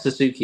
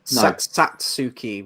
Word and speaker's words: Satsuki: It's not Suzuki, is it? Satsuki with a T.